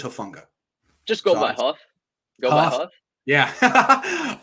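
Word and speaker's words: Hufanga: i love matt um how are you pronouncing it before hafenga herfunga i've heard both actually apparently it's hofunga just go by huh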